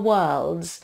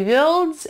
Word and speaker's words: worlds: Обратите внимание на слово worlds. Это не worlds, это worlds. W всегда твердый.